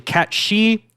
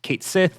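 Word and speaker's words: Cait Sith: People used to think this was actually Cat She. It is not Cat She. It is actually pronounced Kate Sith, according to FF7 Rebirth.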